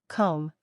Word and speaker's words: comb: It's often silent when it comes after M at the end of a word. Examples include comb, thumb, climb. Listen to this. Comb is pronounced comb. Thumb is pronounced thumb. Climb is pronounced climb.